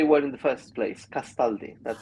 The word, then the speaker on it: Castaldi: Castaldi. Castaldi. Yeah, yeah, yeah. Yeah, I mean Italian in that sense is quite easy.